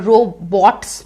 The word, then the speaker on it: robots: पर robots नहीं बोलना है. जो bot में T है, that is silent. So robots. Just omit the T while saying the word.